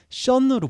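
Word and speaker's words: Sean: 또 다르게 발음이 됩니다 바로 아일랜드에서는 션으로 발음이 됩니다 아엠 쌤이라는 영화에 보면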